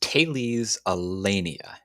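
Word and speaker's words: Thales Alenia: me and saying that it's pronounced taylee's allenia taylee's alenia taylee's alenia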